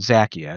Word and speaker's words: Xakia: And so, I found a tool called Zakia. It's a matter management tool, and it's Zakia is spelled. Xakia.